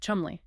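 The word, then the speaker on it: Cholmondeley: It's pronounced chi. Chumli.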